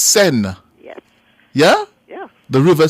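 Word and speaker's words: Seine: the name of the river it's the river sent correct biger man biger up man yes it is spelled s e e i n e but it's pronounced sen yes yeah yeah the river sen it's French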